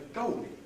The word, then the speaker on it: goalie: So he's called the goalie. And this therefore in London doesn't rhyme with slowly. In RP, slowly, goalie, rhyme. But in London, goalie, slowly, don't rhyme.